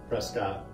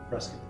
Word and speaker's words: Prescott: Well, phonetically, in the way it's spelled, Prescott, but we all here call it Prescott.